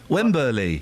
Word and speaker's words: Wembley: You add an extra syllable. Wembley. Oh, yeah. Wembley. You said Wembley. Wembley. You said Wembley and you know it. It's Wembley and you always put an extra.